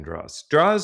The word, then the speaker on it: Droz: It's Dro. The Z is silent. So Dro. So, all right.